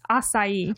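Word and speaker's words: açaí: They offer up a variety of baked goods, cold pressed juices, smoothies, acai bowls, if I'm pronouncing it. No, acai.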